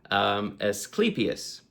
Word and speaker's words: Asclepius: But to the Greeks, before Hippocrates, there was Asclepius, right? And that is the correct pronunciation, Asclepius, right?